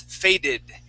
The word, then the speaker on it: faded: okay trusted all right if it ends with a D sound okay like the word fade that ends with the D sound fade we add a e at the end that is faded okay those are the only two times you can pronounce that ID sound every time else is